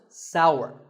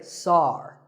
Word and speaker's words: sour: what about this taste it's pronounced sour some people say sar that is a mispronunciation the only correct way to say this word is sour many words in the